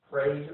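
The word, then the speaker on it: Prague: picture from the magnitude 5.7 praise earthquake that that is actually how they say it in Oklahoma um again it caused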